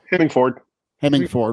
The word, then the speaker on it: Hemingford: I mean, Vogues, say Hemingford. Hemingford, right? Just like it looks.